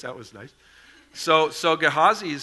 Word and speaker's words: Gehazi: new today I always I always grew up pronouncing his name gehazai so thank you Dennis that was nice so so gehazi is saying don't you